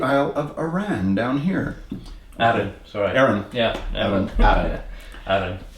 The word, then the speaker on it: Arran: Arran, sorry. Arran. Yeah, Arran. Arran. Accent on the second syllable.